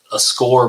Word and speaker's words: Skor: But no, if you want to make me pick one, a Score bar.